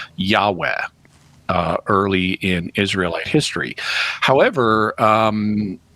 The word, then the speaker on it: Yahweh: And it's believed by scholars that those were most probably pronounced Yahweh early in Israelite history.